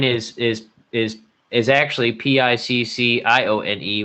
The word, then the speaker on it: Piccione: is is is actually p i c c i o n e which is piccione which means a pigeon